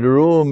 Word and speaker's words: Rūm: quran and the word room is an arabic word it is pronounced like the room in a house a room and room